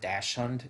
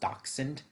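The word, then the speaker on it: dachshund: hund uh or dend sorry I I always pronounce it Dash hund It's it's actually pronounced doxen um I love the the Sleek doxen design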